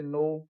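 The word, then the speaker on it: know: तो इसका रूल है गाइज, जब शब्द की शुरुआत के एन से होती है तो के साइलेंट रहता है।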